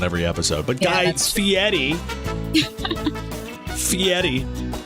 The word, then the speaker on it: Fieri: But Guy Fieri, Fieri is the way I pronounce it and the way Guy pronounced it. So it's got to be right.